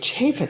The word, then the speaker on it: Chaffetz: Chaffetz.